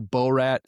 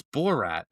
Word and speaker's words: Borat: It's Borat. Like Borax.